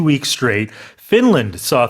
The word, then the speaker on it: Finland: However, in English, when there's a n followed by a l, you have to pronounce both uh both of those consonants.